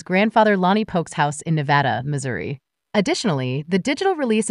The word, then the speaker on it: Nevada: Number Nuts band, but and Nevada, Missouri instead of Nevada.